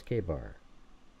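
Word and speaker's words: KA-BAR: and more detail, and pronounce K-bar as K-bar. All right, here we go. You got it, bro. This one's gonna be max bro mode, extra sarcasm, and full-blown drama with detail. And yeah, we're pronouncing that bad boy like it's written, K-bar.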